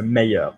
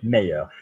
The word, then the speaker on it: meilleur: Or best is one syllable and it will go to two beats in English, in French, so meilleur.